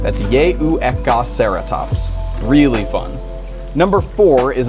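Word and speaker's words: Yehuecauhceratops: small ceratopsid from Mexico and its name is pronounced yeka ceratops that's yeka ceratops really fun number four is a dinosaur whose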